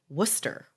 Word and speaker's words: Worcester: was actually born here it's actually Worcester which doesn't even make sense because Sor no that's it that's how you say it and I was